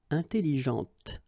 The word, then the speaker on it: intelligente: with an adjective, okay, intelligente. Same thing here. When you put this well, actually you will pronounce the final T, okay, but you don't pronounce this here. Intelligente.